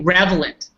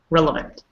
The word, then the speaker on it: relevant: here so never say revelant I don't know why people say that's just how people are it's well up that so well and that pretty simple relevant today ah yes there's